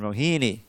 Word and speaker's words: Rohini: The tendency is in English to accent the penultimate syllable. Penultimate is the next to last syllable, and that's why we get Rukmini and Rohini.